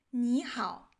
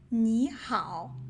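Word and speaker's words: 你好: If you meet some Chinese people, you might find out they don't pronounce the word 你好 like 你好.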